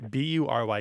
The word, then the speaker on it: bury: I think I'm going to make it follow the more typical pronunciation of the U and pronounce this as bury. It's going to be bury. Like fury and jury.